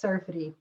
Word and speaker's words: Serfaty: I think I just butchered your last name. Could you correct that for me? That's okay. Yeah, it's Serfaty.